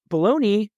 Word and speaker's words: bologna: with the logo but baloney and balone it's like it's not pronounced the way it's spelled number one baloney that